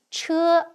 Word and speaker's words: 车: This is pronounced as 车, meaning carriage.